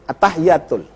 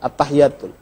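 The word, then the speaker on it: التحيات: Pertama, pengucapan at-tahiyyat. Di situ ada sabdu. Sebagian orang kesalahan terletak pada ucapan ini. Mereka mengucapkan at-tahiyyatul. At-tahiyyatul, mubarakatus, sholawatut, at-tahiyyatul. Salah. Yang benar at-tahiyyatul. Ada sabdu di atas ta, ada sabdu di atas ya, ada alif nyambung.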